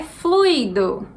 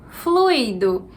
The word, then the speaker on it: fluido: 24, a palavra é fluido. Fluido. Então, assim como gratuito, aqui a gente tem só o fluir. Não é fluido.